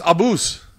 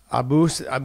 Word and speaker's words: Abus: It's Abus. Abus, but it's... It's Abus. Pian. Abus. Okay, so it's Abus...